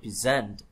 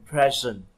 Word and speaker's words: present: nói gì, nhưng mà thường cái verb ấy thì cái trọng âm thường nó rơi vào âm tiết thứ hai, ví dụ là present trình bày, còn present đó là hiện tại hoặc là món quà.